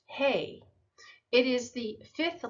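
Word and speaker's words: ה: It's pronounced Hey.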